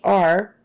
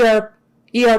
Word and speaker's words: ER: the middle right like you don't want to say er take them to the e r please th that would sound funny but so would take him to the er er please er er take him to the er um that's better than e r but not quite right take them to the